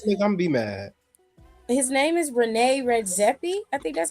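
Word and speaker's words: René Redzepi: Rene Redzepi.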